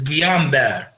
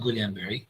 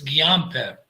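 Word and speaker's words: Guillain-Barré: like gluten body syndrome or the the correct pronunciation is guillain-barre it's not guillain-barre this is iraqi pronunciation it's guillain-barre demyelinating diseases like multiple sclerosis acute demyelination polyneuropathy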